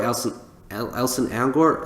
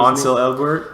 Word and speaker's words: Ansel Elgort: Because, look, I actually enjoy Elson Elgort, is that how you say his name? Ansel Elgort.